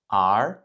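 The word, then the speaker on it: 儿: Donc cette fois-ci, c'est le 2e ton ar ar ar Ce caractère à l'origine qui symbolise le fils en chinois.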